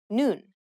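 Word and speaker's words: 눈: like the top letter combining these with the vowel in the middle you pronounce the whole block noon which means I in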